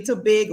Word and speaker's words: Tobago: where we yes and we pronounce it actually Tobago you need to practice